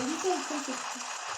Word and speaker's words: uTip: bah, U-type, comme ça se prononce.